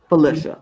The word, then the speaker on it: Felicia: Okay, so going back to the video, she pronounced it Felicia. Felicia. That's what I thought it was, Felicia. So we will pronounce it correctly from this moment on, Felicia.